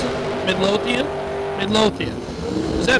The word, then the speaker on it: Midlothian: that is that a no not how you pronounce it Midlothian Midlothian is that not what I said oh